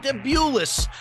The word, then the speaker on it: Davidowicz: That gave the New Englanders the lead, but those pesky OGs came back yet again behind Chicken Davidowitz.